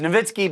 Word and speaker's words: Nowitzki: bit odd to me he said his name wrong he did nitzki nit it's nitzki but that's okay like it